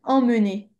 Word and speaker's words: emmener: Ah, c'est amener, Ouais, même s'il y a les deux M devant et qu'on pourrait se dire que ça se prononce et, ça se prononce pas et, ça se prononce en.